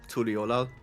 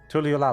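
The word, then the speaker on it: Tuliyollal: Oh, I think I'm standing around in Tuliolal. Ah. That's fine, I can teleport there for free. How is it pronounced again? Tuliolal. Tuliolal? Yes. Tuliolal.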